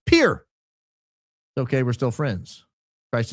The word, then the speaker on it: Pierre: Also, our capital is pronounced pier.